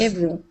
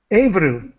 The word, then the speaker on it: Ebru: Ebru. Ebru. Avru. Yes. So the B is pronounced like a V. No, B.